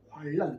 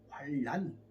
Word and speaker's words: 환난: 환난이 아니라 환란, 국의음화를 통해서 제가 이제 구를 잘 모르는데 쓸 때는 환난이라 쓰고 읽을 때는 환란으로 발음하여 주시면 좋겠습니다. 그럴 때는 사모님이나 누가 옆에서 자꾸 알려드려야 돼요. 목사님, 환난이 아니라 환란 이렇게 하셔야 됩니다.